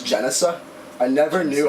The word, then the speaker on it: Genesa: it what is it jicea thought lab how you say it is jesa I never knew how